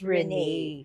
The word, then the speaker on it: Renee: walang accent, pero It's pronounced Rene.